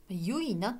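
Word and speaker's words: 結菜: したらどうかこれはえ結ぶという感じに野菜のサですねゆいなって読むのかな多分えこれは今年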